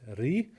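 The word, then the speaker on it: Ruighe: The Talisker Port Rogue or Ree. I did my quick research. They said it's Ree, R-E-E. That's how you pronounce it.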